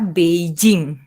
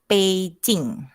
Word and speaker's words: Beijing: dari negara Tiongkok Beijing orang Indonesia akan membacanya dengan kata Beijing tapi sebenarnya pelafalannya adalah B seperti huruf t p&j seperti huruf c c c Hai jadi pelafalan yang benar adalah pking Hai atau kalau kita